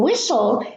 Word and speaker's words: whistle: In whistle, the H is not pronounced, and also the T.